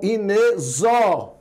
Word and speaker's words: inexorável: E a pronúncia dele aí? A pronúncia aqui é de Z, tá certo? Então, inexorável, então não entra mais um, tá certo?